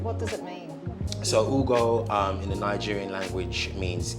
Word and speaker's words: Ugo: you pronounce it properly yeah like food it has to be coming from the chest you know and what does it mean so Hugo in the Nigerian language